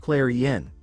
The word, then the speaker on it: Kclarion: Kclarion, pronounced Clareen, then cleared his throat to hide his display of weakness when he summoned and successfully bound the cat demon to him.